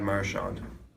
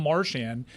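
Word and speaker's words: Marchand: This was many years ago he was asked, "How do you pronounce your name?" Brad Marshand. Dan, you're right. Wow. Dan was right. But also, it's not just Americans. It's like the chicklets guys can't pronounce this guy's name with a lick. It's become Marian. And I'm like, do I have this wrong? I assumed it was Marawn, but all these hockey guys are saying Marian.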